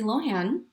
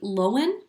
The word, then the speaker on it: Lohan: We've been saying Lindsay Lohan, but it's Lindsay Lohan? Yeah, like Lowen. Yes.